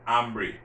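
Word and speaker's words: hambre: tango ambry you see i'm not pronouncing that h because remember that age is silent tango ambry i'm hungry i'm thirsty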